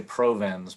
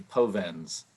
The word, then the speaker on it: Povenz: to put an R in there. They want to say Provenz, but it's actually Povenz.